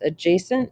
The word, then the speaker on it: adjacent: Okay, so let's start out with adjacent angles. So adjacent, the D is silent.